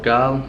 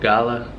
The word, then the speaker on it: Galle: in a place called gaol one of the popular destinations here in Sri Lanka I think the locals pronounce it gala something like that we came here from